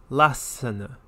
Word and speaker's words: Lassana: Notice the double consonant within the first syllable, Lassana.